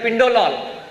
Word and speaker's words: Pindolol: So rhymes with sin and pin. It rhymes with sim and pin.